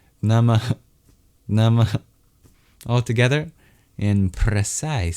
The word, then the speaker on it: Namah: It's a little exhale at the end. Nama, Nama. All together, in precise Sanskrit pronunciation, this mantra is Aum Chandraghantaya Namah.